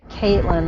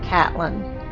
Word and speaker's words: Catelyn: returns for 2022 and they don't pronounce that Caitlyn they pronounce it Catelyn right the mountain oh